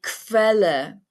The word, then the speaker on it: Quelle: QU, pronounced like the English KV, Quelle, Quelle, Quelle, which means source.